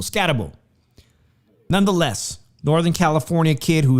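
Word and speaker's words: Skattebo: How do I pronounce his name? Skat. It's not Scatbo. Scatabo.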